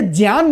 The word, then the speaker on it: ज्ञान: बोल देते हैं, वो आधा जाओ या का प्रोनाउंसिएशन एकदम क्लियर कर देते हैं। लेकिन याद रखिएगा ये ज्ञान भी नहीं है, ये है ज्ञान।